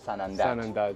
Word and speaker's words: Sanandaj: Sanneh, you remember is the the way that the Kurdish pronounce Sanandaj, yeah.